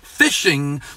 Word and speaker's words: phishing: It's called phishing because they are fishing for suckers.